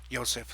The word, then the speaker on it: Yosef: art philosophy religion Mikhail whose name would be properly pronounced as Mikhail Joseph Smith seemed to have the